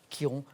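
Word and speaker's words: Chiron: sait qui rompt ch heroes and ça se prononce effectivement quiron c'est ça que vous cherchez manuel et quelle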